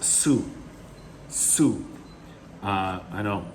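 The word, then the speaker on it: Sioux: u x s i o u x that's pronounced su su uh i know it's kind of strange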